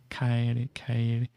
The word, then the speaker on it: Kairu: Kairu. Yeah, it's kind of like an A, so Kairu. Or that'd be roughly how it's pronounced.